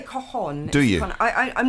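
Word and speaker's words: cajón: How do you say it? You say cajon.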